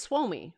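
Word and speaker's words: Suomi: that no no no the same thing with finland it's swomey right swami i don't know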